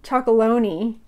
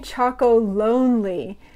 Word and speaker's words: Chocolonely: the name comes from it's not tony's chocoloney which is sometimes it's tony choco lonely and then lonely comes